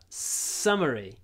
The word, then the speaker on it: summary: summary of the book remember to stretch the S summary summary to show that the stress is on the first syllable a summary of the